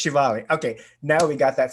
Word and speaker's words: Shivali: So it's Shivali.